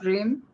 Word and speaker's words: Brim: by Our Guest Dr Brim yeah am I pronouncing it right correct all right by many many variations of of bream but you got it right yeah yeah Evelyn is